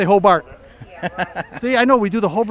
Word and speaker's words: Hobart: they taught me that if a local guy says Hobart, not even though you know it's spelled H-O-B-A-R-T, right? Yes. But you say Hobart.